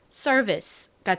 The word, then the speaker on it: service: 자, 그리고 제일 앞에 S가 왔어요. S는 시옷 소리가 나죠. 그런데 단어의 가장 앞에 이렇게 S가 오고 뒤에 자음이 아닌 모음이 온 경우 주로 S는 좀 세게 된 소리처럼 발음이 납니다. 자, 그리고 ER이 왔어요. 자, ER은 무슨 소리가 나나요? 아까 performance에서처럼 ER은요, R 소리가 나죠. 그래서 앞부분의 발음은 sir이 되고요. 자, V는 진동이 들어간 비읍 소리, V 소리가 납니다. I는 여기서 E 소리로 쓰였죠. 연결해보면 service가 됩니다. service.